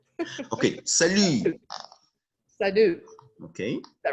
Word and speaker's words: salut: So for salut, okay, so let's just work on the right pronunciation, and we would say salut and not salut.